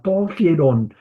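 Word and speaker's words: ἱερόν: Luego sigue hierón, to hierón. To. Hierom. Togierón. Tenemos un espíritu rudo, por eso estoy pronunciando el O con la J. Togierón.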